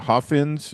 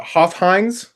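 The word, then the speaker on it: Hofheinz: They went to the Hoffins. Is that how you say that? Uh, Hoffheines, I believe.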